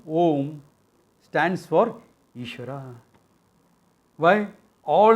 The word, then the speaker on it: Om: Therefore, there are some idiots who will chant it as Aum. No. A and U phonetically coalesce together. That phonetic coalescing makes it O. You say it fast, Au, Au, Au, Au, Au, Au, Au. It will become O. And therefore, Om.